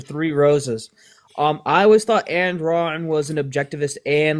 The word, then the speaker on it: Ayn Rand: Ayn Rand.